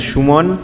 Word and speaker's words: Suman: But it is, I mean, I pronounce my name as Shumon, right, which is very much a Bengali name.